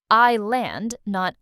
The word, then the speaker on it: island: Word number four, island. This word has a silent s. We don't hear it at all. I land, not Iceland.